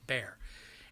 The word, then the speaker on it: Bexar: San Antonio, Texas is in a place called Bexar County, Baher County, pronounced Bear, and there's 1.7 million people in San Antonio.